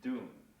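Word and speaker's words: dun: Okay, so we have the bass tone, right hand, the syllable is called goon. The left hand is doon.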